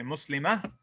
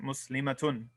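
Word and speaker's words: مسلمة: If we stop at a ta marbuta, we have to pronounce it as a ha. So this is what's going on. We say muslima. That's just, we're saying muslimatun, but we're not pronouncing the ending.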